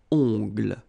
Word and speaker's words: ongles: Okay, O-N, remember, nasal, ongles. Un coupe-ongles. Un vernis à ongles. Final S here, not pronounced. Same thing here. Vernis à ongles.